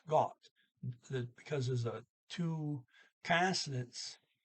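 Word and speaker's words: godt: goot but there's a d there so it's pronounced got because there's a two consonants it goes to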